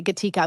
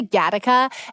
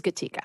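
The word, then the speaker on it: Gatica: Papa Berto and yes that is how you pronounce Evan and my children's last name by the way gatika most people say GAA and I rarely correct them because it's so cool has there ever been a cooler way to mispronounce a last name than Rio Dre and Ry gataa no when you mispronounce my last name it's okay that's not sexy GAA that's cool but it is gatika so uh my father-in-law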